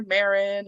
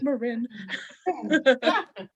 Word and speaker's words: Marin: Now here in Fresno, people call her Marin and Marin, and she's like, it's Marin. Wow, fun.